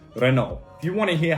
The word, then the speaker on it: Renault: have renault i say renault renault is a french brand and it is pronounced renault if you want to